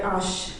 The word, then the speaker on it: H: Indeed, I write H and I hear ash, axe. H is pronounced ash in French.